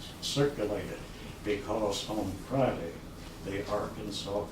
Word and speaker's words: Arkansas: reduce that they're after the word shall be pronounced Arkansas the final test shall be considered violent and